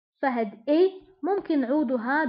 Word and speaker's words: et: Fahad e. Mumkin oudouha b et puis. Il se prononce e.